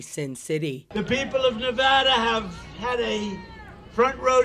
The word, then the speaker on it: Nevada: we love it and you always have to say it correctly Nevada you a got to go Nevada with thousands of proud hardworking